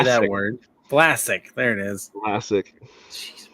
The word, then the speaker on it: Vlasic: Vlasic.